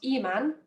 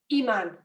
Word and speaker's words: imán: That means that we give that letter more stress. So it's not imán, it's imán.